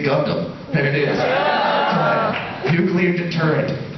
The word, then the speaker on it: Gundam: two words for you technically three actually it's just two syllables you say gundam there it is nuclear